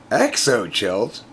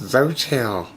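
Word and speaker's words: Xochitl: behind the counter um had a name tag on as i'm like exo chilt that can not possibly be your name and she said it's pronounced zotero hey there you go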